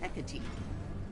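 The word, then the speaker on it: Hecate: Just call me Hecati. So that's how you pronounce that.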